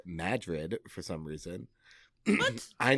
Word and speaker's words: Madrid: Madrid in Iowa is pronounced Madrid for some reason.